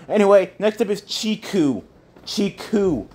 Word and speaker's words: Chiku: Chiku, guys. It's spelled C-H-I-K-U. Chiku.